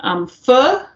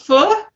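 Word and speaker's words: phở: Pho? Vietnamese pho? Is that right? It's one of it's you're supposed to pronounce it like F-U-H, like pho.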